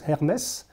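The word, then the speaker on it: Hermès: it's now the name of the group is hermes so hermes was um uh the greek king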